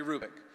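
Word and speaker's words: Hrubec: you h-r-u-b-e-c terry krubik the h is not pronounced terry rubick she did studies of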